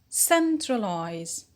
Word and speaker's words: centralize: What do we have here? We have the suffix eyes. It is called verbal eyes. The rule says when the verbal suffix eyes is in verbs, the stress will fall on antepenult, on the antepenult. What does it mean, the antepenult? The antepenult is the third syllable from the end, the third syllable from the end. So centralize. Good.